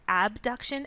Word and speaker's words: abduction: familiar with the terms abduction and adduction abduction sometimes pronounced a B duction for the sake of